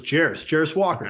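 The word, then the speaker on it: Jarace Walker: And if he goes 4, Walker, and I'm going to draw, how do you pronounce Walker's first name? I thought it was Jarris Walker. Okay. Yeah. Jarris Walker.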